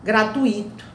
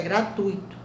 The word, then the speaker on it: gratuito: Muitas pessoas pronunciam gratuito, né? Intuito, né? Barbarismo. Não existe gratuito, não existe intuito. O certo é gratuito, o certo é intuito, tá?